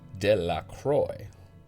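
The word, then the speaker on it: Delacroix: and Harry Jones and Dicky Delroy the villagers pronounced this name de la Croy eventually made a great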